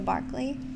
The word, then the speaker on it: Berkeley: berkeley and pronounced berkeley or spelled berkeley and pronounced the barkley like you should probably take that that sounds